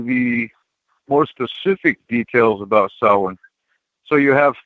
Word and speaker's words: Samhain: You all follow a basic 8 Sabbats or holidays, which Halloween, otherwise known as Samhain, it's spelled S-A-M-H-A. It's spelled like Sam Hain, but it's actually pronounced Samhain, and it is Celtic.